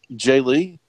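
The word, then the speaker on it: Jae Lee: miniseries done by Paul Jenkins and drawn by Jay Lee so I hope I'm pronouncing that right has it ever been have you ever pronounced that anything different Jay Lee yeah thank you okay good no yeah all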